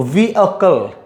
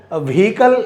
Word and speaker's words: vehicle: व्हीकल ऐसे नहीं बोलना है, व्हीकल नहीं बोलना है.